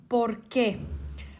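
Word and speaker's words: por qué: И двете се произнасят порке, но порке отделно и с ударение на е въпросът, а порке без ударение и заедно е отговорът.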